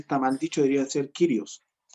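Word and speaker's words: κύριος: mal dicho diría ser kyrios la pronunciación correcta es kyrios sí sí sí la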